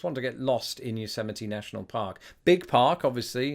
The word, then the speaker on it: Yosemite: won or at least since I learned how to pronounce Yosemite I never knew who you Semitism was when I was a kid he was just one of those that passed me by I don't know what